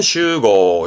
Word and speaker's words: 集合: 모일 집자 그죠 그래서 집합으로 갈까요 집합 바르면 슈고 슈고 음모는 쇼입니다 슈고 이거 말고 동사는 아스메